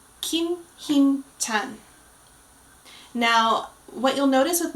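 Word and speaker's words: 김힘찬: Kim Him-chan. Very good. So our member is going to be Kim Him-chan. Kim Him-chan.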